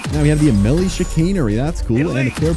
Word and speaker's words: Chicanery: It is pronounced the Chicanery, by the way, not the Chicanery or the Chicanery or the Chicarny or whatever other people say.